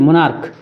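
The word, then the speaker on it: monarch: मुनार्क, MO, यहाँ भी मुनार्च नहीं, मुनार्क, तो इसमें भी क्या जोड़ेंगे, एस जोड़ेंगे।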